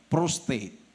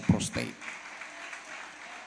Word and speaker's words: prostate: Prostate, hindi po prostate. Prostate. Ang tamang pronunciation niya is prostate.